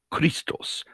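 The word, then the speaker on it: Χριστός: from the word christ which in greek is pronounced christos and is written like this if you take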